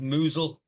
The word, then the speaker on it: Mousehole: Kingston bag po mousehole chipping non that's pronounced that's pronounced moozle by the way mle.